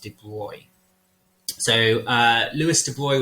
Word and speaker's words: de Broglie: ignore comes in so it's known as the de bruy equation i know it's spelt de broglie but it's usually pronounced de bruy so uh louis de boy was a scientist